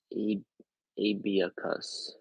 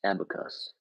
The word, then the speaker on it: abacus: Pronounce Abiacus. Abiacus? Abiacus. Abacus.